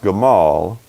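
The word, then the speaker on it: gamal: word your camel alright it's Hebrew 1581 and it's pronounced Kamal and actually when you're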